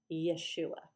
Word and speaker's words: Yeshua: Jesus would have been called Yeshua.